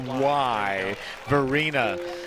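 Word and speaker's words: Fuquay-Varina: And to cover Matt's back, it is Fuquay, Verena, North Carolina.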